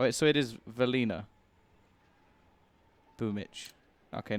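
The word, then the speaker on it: Boombl4: I knew it was Boomage or Boomich. I knew it was one of those because I asked. I asked quick. I was just like, how do you say his name? And he said Boomich.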